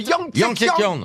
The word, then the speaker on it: Yangtze: Alors, on peut le prononcer de différentes façons. En France, on l'appelle parfois le Yangtze, comme vous venez de le dire, ou le Yangtze-Kiang, comme l'a dit Philippe Manœuvre, À la chinoise.